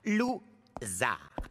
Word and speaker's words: Loser: Mon nom se prononce. Lou-.